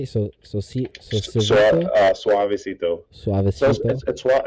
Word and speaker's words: Soavecito: Suavecito.